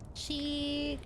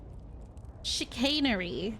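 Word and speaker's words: chicanery: Hold on. Chanerary. Chicainery, guys. That's how you say it.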